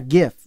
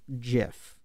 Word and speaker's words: GIF: He said that it is pronounced GIF Oh with a shit. soft J, soft G.